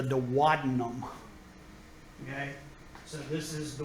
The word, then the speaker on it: duodenum: And it's not the duodenum. I know that's what how it's spelled and what it looks like. The duodenum is part of the small intestine, but it's actually pronounced the duodenum, okay?